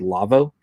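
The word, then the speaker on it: Lawo: by a German company called Lavo that's la wo what do they pronounce it that way I wonder it's like a Volkswagen well that's that's for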